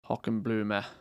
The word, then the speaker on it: Hockenblume: It's a German word, so the last E is not silent. Hockenblume.